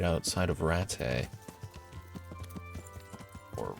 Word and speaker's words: Rattay: Because I think that's one of the main flowers that grows around the training ring right outside of Rattay. Or Rattay, as people keep pronouncing it lately in game.